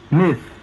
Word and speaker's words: myth: El sonido de la I de it se escribe excepcionalmente con la Y, como en Myth, myth. Again, myth, myth.